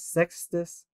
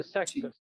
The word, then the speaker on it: Sextus: SCP-2229 is a telepathic entity that self-identifies as Sextus from Pilus Trio, Legate of Ursa Major, to the Senate and People of Rome. Hey, what? Sexist or sexist? Sextus. How's this spelled? Sex, T-U-S. Oh, Sextus.